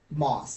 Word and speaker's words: Moss: Moss, like the like moss is growing on the cookies.